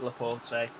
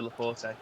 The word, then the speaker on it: Laporte: i ain't the poor it's not laporte you just put a load of cry in there crying left emoji faces i am eric laporte he definitely should be not laporte it's got silent e but it should be laporte oh and that's ailing